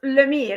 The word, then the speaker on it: Lemire: It's Lemire. It's very francophone. Lemire? Okay, Lemire.